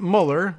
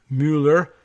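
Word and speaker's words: Müller: Karsten Muller, or probably Mueller, we have that pronunciation problem here in the United States, but this is a M-U with the umlaut L-L-E-R, Mueller.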